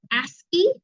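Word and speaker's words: ASCII: class okay so um weird but it's called esy that's how we pronounce this is esy this is the standard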